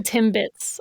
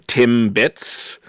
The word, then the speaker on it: Timbits: because they call them Tim bits it's one it's one it's one syllable Timbits we don't pronounce our T's in Canada Timbits all I know